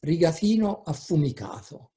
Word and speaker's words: rigatino affumicato: Nowadays, one can find on supermarket shelves products that not even Italians know, such as rigatino affumicato. I pronounce it deliberately, in the Florentine way, because it's mainly a Tuscan term.